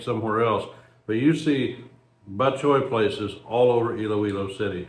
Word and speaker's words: batchoy: I'm probably breaking all the batchoy rules here, but this is spelled b a t c h o y, batchoy.